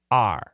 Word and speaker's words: our: denied our plate denied our plate what's the pronunciation perfect pronunciation is our but daily pronunciation r r denied our plate Texas